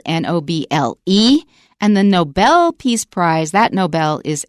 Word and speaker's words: Nobel: And of course the correct pronunciation is Nobel.